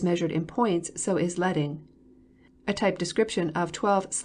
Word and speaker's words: leading: page line spacing or leading rhymes with sledding refers to the amount